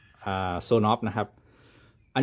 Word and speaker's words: Sonoff: ส่วน of นะ ครับ แรก ผม ก็ อ่าน ว่า S of นะ ครับ แต่ ว่า Zone of นะ ครับ อัน นี้